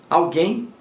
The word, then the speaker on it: alguém: e acima temos alguém alguém leva acento gráfico porque é uma palavra oxítona alguém alguém acendeu mais forte a última o e leva acento gráfico porque é oxítona terminada em m alguém alguém oxítona terminada